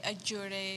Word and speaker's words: Allure: How do they pronounce it in Mexico? Like allure, ajure. Like, Ajure. Yeah, because two L's make a Y sound.